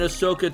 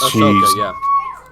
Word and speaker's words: Ahsoka: like the new series, Ahsoka, Ahsoka, is that how you pronounce it? Yeah, Ahsoka. Yeah, I didn't watch the show.